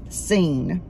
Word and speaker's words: Sin: came into the wilderness of sin pronounce seen this is a side note in hebrew it means the place although the words are spelled the same in english sin is not related